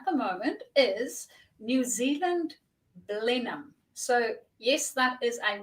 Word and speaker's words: Blenheim: as everybody else and decided that it is pronounced Blenheim so that's where I live um and I